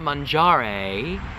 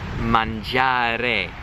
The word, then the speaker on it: mangiare: So it's not mangiare, A. That sound they don't have in Italian. It's mangiare, E, okay? Thin, tight E, okay?